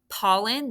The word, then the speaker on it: pollen: sure so scoop it multiple syllables paul and this first one's closed that's a short o but the second one where do we it sounds like it should be i n but it's not that's because it's a schwa right and you put